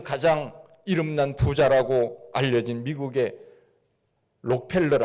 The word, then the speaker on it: 록펠러: 이름난 부자라고 알려진 미국의 록펠러 아고 하는 사람이 있죠 라카 펠라고 발음을 하는데 그는 믿음의 사람이었습니다 2001년에